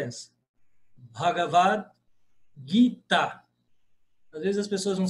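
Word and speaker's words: भगवद्: A pronúncia é essa, Bagavad.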